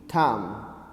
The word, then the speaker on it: thumb: carefully listen students here b is silent the alphabet B is silent here so you need to pronounce pronounce it listen to me carefully and repeat after me p hu m b thumb the second time t